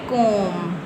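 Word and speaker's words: comb: बी से पहले जब भी एम होगा तो बी साइलेंट होगा। जिस तरह यह है कोम। इसको हम कोम बोलेंगे। कोब नहीं बोलना आपने।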